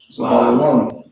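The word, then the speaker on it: זבולון: Zebulun pronounced Zabalawan.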